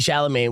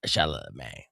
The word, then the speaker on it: Chalamet: It says, you say, bless your heart, Chalamet. Chalamet. Again, what a great joke that it's held up, and now you pronounce Chalamet like Adam Sandler.